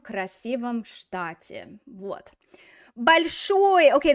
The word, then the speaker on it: большой: Большой. Okay, the stress is on the final syllable, so it's going to stay on the final syllable in the prepositional case as well.